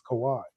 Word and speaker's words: Kawhi: Like like like ESPN, everybody has told us a bunch of times, it's Kawhi."